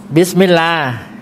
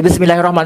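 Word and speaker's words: بسم الله: ครับ อ่าน ว่า ไง บิสมิลลา บิสมิลลา บิสมิลลา หรือ บิสมิลลาฮ ก็ ได้ ครับ บิสมิลลาฮ ตวั แล้ว ก็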